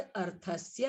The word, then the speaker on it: अर्थस्य: हलंत वाला वर्ण अगर अंत में नहीं है तो उसका उच्चारण इस तरह से होना है कि जैसे अंत में अ हो, जैसे अर्थस्य, है ना।